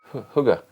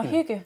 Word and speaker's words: hygge: Hugger. Hooker. Hugger. How do you pronounce it? Oh, Hygge.